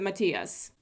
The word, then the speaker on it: Matthias: of nina and matthias that is the correct way to pronounce it if you've ever met any europeans with that name they all pronounce it matias just saying my lips